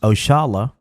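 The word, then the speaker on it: Oxalá: Oxala, pronounced Oshala, a commonly used term, is a direct descendant of a term we Muslims commonly use, Insha'Allah, means God willing.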